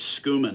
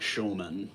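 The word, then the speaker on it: Schoeman: Oh, so it's Skuman, it's not Showman. I think the only reason I would pronounce it that way is I work with Germans, and that's how they would pronounce it.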